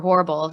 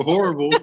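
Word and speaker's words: Horbal: job was working for a dentist uh Dr Horrible you you'd like this that's his name yeah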